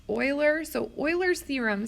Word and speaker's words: Euler: Now, there's this guy, this looks like Euler, but it's actually pronounced Euler.